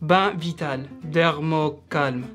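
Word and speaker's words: Bain Vital Dermo-Calm: Et aujourd'hui, je vais vous aider à prononcer ce shampoing. On dit bain vital, dermocalme.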